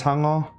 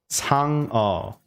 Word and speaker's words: Sangeo: Sangeo. Like, what's an easy way to like teach how to pronounce it? So like Sang So think like taco, like the way you say the A in taco, ta.